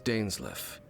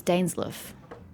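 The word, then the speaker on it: Dainsleif: always alone my name's daneslaff i suppose you have some business with me i thought leif was life even l-i-e-f i was pretty sure was life but you just pronounced it as dane's life has my entire childhood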